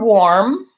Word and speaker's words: warm: word warm so or so the word warm is not an it is an O so it's basically the or sound or or same with